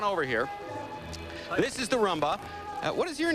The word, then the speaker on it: rumba: We're going to rumba now. Well, you go rumba then, Mike. Repeat after me, Andira. Rumba. Umba. Shake and you roll your R's.